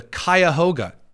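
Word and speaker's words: Cuyahoga: First of all, I have learned the great truth of how to pronounce the river in Cleveland. the Kyahoga.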